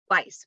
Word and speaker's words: Weiss: your last name properly how did we say that tell everyone Vice all right very good